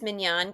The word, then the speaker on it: Mignonne: So, my name is Minan and I'm the founder of Minyan.